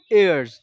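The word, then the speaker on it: heirs: है एंड यू आर एयर्स यह एच जो है साइलेंट है एयर्स का मतलब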